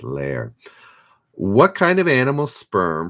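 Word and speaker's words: Lehrer: answer which was jim is it leer blue's great you're on reddit tonight yes you also got jim blair is it lair anyways l-e-h-r-e-r i think blue storm helped me with the pronunciation with lair what kind of animal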